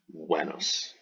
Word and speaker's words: Venus: the goddess of love Venus the Romans said buenos additionally the Romans wrote in magic school that